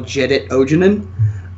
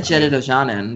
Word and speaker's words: Jedit Ojanen: so that you can't actually run the original Jedit Ojanen. Is that how you pronounce it? That's how I pronounce it. Well, I always said Jedit Ojanen, but that's me.